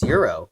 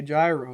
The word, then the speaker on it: gyro: at the front saying, "If you say gyro, you're getting kicked out." Right? There's that like a Walmart entry guy, right? That makes you come in and you say, it's euro. Dude, don't say it wrong.